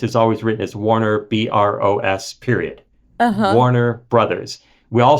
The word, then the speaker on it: Broad: voice actor referred to Eli bro as Eli Broad like five or six times in the book and Eli bro is a very famous billionaire philanthropist now his